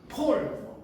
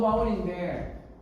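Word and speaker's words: Paul: 그러면 바이어들에게 폴, 이런 우리가 사도 바울인데 폴이잖아요. PAU에 바울 우리말로는 바울 이렇게 바울 이렇게 읽는데 그냥 영어식 발음은 폴이야.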